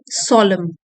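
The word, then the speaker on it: solemn: इन अ सोलम, सोलम एंड साइलेंट है, इन अ सोलम kind of वे।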